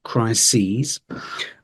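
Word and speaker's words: crises: interesting one es um if you think of boxes we think is but in this case we're actually going to say something slightly different this is Christ sees SE so it's a bit different to what you would have thought when first looking at the word so watch out for for that chry sees um and then one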